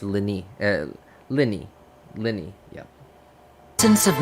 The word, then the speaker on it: Lyney: show okay so Liz apparently it's pronounced Lenny not lynnae Lenny so Lenny definitely sounds